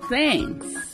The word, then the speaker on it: thank: Então faça como eu e produza o som do F quando vira o TH e agradeça a todos.